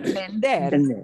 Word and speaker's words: vender: And we pronounce the V like a be, be, be, be, right? Vender.